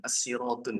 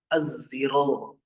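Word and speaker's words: الصراط: Az-ziro, az-ziro. Ah, itu lebih aneh itu. Ya, az-ziratun. Nah, yang sudah belajar asyarah pasti sudah tahu. Tulisannya so, bacanya zai. Bacanya zai.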